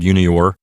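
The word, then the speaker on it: iunior: Notice again that the letter I here at the beginning of the word junior is a consonantal I. It's not a vowel. It's being used as a consonant here.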